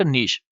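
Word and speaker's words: niche: तो ये इसे नीश भी कहते हैं, इसे नीच भी कहा जाता है। हम इसे नीश ही कहेंगे क्योंकि जो ऑक्सफोर्ड डिक्शनरी है, अगर आप उसका प्रोनाउंसिएशन देखेंगे तो उसमें नीश आएगा।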